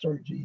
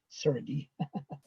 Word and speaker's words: Sergi: sergi by the way it's pronounced sergi not sergey apologizes all the